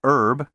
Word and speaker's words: herb: pronounced envoy and envelope don't pronounce the h in vehicle and herb and don't say zoology